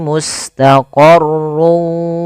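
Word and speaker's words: مستقر: Cara pertama, langkah pertama, masukkan tanwin ke huruf waw sehingga suara n-nya hilang. Tinggal ganti wa, maka mustaqarrun awalnya menjadi mustaqarru karena dia bertemu waw, masuk ke waw.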